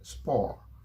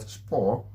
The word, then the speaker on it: sport: is the next word spore you notice i didn't pronounce the t french language you do